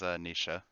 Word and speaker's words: Naoise: My character's name is Nisha.